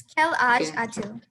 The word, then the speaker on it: quel âge as-tu: Would anyone like to pronounce that? That seems tricky. It's quel âge as-tu.